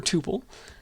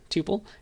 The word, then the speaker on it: tuple: two possible pronunciations uh one to rhyme with two pole so tuple another with supple so tuple people also say tuple